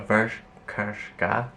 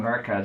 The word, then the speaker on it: Verka: recognize it with Conchita Wurst, but like a Vershka. How do you say her name? Verka, just say Verka.